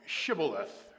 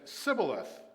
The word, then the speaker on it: Shibboleth: If he said no, then they would say to him, 'Say now, Shibboleth.' But he said, 'Sibboleth,' for he could not pronounce it correctly.